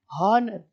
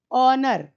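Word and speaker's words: honour: इसको हम हॉनर नहीं कह रहे, हॉनर। अगर हम हॉनर कहते तो ह आ जाता, ह मतलब एच मतलब कॉन्सोनेंट। लेकिन हम यहां कह रहे हैं औ से औरत, ऑनर। यानी ह है साइलेंट, तो अ से शुरू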